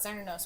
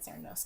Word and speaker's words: Cernunnos: I said Cernunnos. Cernunnos is the appropriate pronunciation, but for some reason we always say Cernunnos because we're English speakers and we see a C.